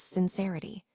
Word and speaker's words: sincerity: When we pronounce sincerity, we use the short I sound, which is more relaxed and quick.